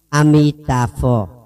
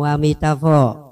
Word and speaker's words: Amitabha: Đây là cách phát âm Amitabha. Nam Mô Amitabha. Người Tàu á. Nam Mô Amitabha.